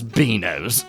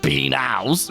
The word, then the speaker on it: binos: I mean, how do you even pronounce beanos? Beanows, which is how it's spelled, but has no relation to the actual full word. Or beanos, which would be the truncated form of the word, but has no relation to the spelling binos.